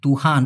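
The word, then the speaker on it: Tuhan: টি ইউ এইচ এ এন তুহান উচ্চারণটা কি তুহান তুহান মানেও কিন্তু সারা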